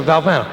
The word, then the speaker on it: Valvano: The Oval Office, the President of the United States says, how do you pronounce that? I said, Valvano. I said, yes, sir, Valvano.